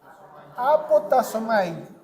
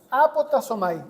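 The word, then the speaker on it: ἀποτάσσομαι: Apotasomai. Apotasomai, así como con dos s, tal como como se pronuncia.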